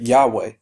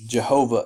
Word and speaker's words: Yahweh: one time of course we don't know exactly how it's pronounced but Yahweh is a good approximation Jehovah in some translations so she's saying I